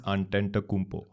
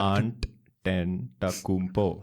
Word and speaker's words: Antetokounmpo: Quick question: Can you pronounce his surname properly? Giannis Antetokounmpo. Can you repeat that? Antetokounmpo.